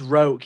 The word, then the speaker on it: Roque: I think it's Roke, yeah, they're all known by their surnames. I think it's Roke, but it's spelt like Roque, so R-O-Q-U-E, I think.